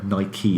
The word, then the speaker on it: Nike: Ni-kee is how you pronounce it.